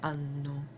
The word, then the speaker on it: hanno: Notice that the initial acca is silent. So, o i a, abbiamo, avete, hanno.